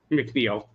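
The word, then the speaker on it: McNeil: McNeel.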